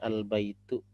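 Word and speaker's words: البيت: kita lanjutkan ini catatan huruf a pada Al diucapkan Hanya apabila tidak didahului oleh kata lain Oke contoh misalnya Al baitu ya kata a yang ada di sini Alba itu kita baca A itu kalau tidak didahului oleh huruf yang lain ketika ada huruf lain yang mendahuluinya misalnya ada huruf wa di sini ya maka a ini tidak terbaca kita jadi bukan yaitu adalah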